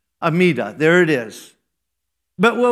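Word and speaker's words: Amidah: is spelled a m d ah or it's pronounced amida amida there it is but what was it was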